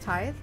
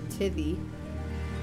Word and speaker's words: tithe: Is it pronounced tithe? For the tithe, yeah. I keep on reading it as, like, tithy.